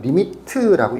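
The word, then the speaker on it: lim: li 리미트라고 읽습니다.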